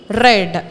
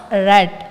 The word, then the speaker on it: read: they all said yes see the spelling is the same but the pronunciation is different read red yes yes yes yes red it's red we want